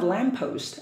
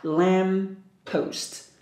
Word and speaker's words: lamppost: So we have two P together, we just pronounce once. So lamppost, lamppost. We don't have to pronounce like lamppost, no, just lamppost.